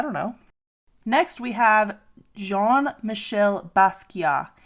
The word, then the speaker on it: Jean-Michel Basquiat: Next, we have Jean-Michel Basquiat. And I know I pronounced that correctly because I looked it up on YouTube and I practiced it like 25 times before trying to pronounce it.